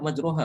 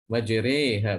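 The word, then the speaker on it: مجراها: Di bawah ro itu ada titik. Majreha bacanya ya.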